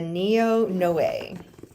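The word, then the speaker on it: Noé: It's hard to pronounce. Everyone says now. It's the NEO.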